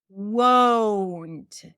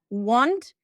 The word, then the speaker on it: won't: Won't. Right? I'm not pronouncing it as want. It's wo. Wo. Won't. So imagine like there is a W at the end.